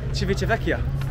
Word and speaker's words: Civitavecchia: Civitavecchia.